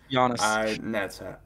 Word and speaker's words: Giannis: Giannis. Giannis, yeah. I always mispronounce it.